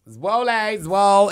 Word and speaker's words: Zwolle: Zwolle. It's giving like swole. It's giving swole.